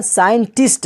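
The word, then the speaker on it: scientist: उसके बाद आई है तो वहां पर सी साइलेंट हो गया है इसी तरह साइंटिस्ट है एस के बाद सी है और सी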